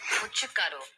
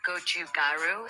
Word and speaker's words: 고춧가루: This is the correct way to pronounce Korean food terms. 고춧가루, not gochugaru. It's 고춧가루. 불고기.